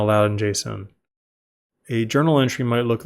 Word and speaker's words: JSON: popular serialization format is called Json pronounced Json which stands for JavaScript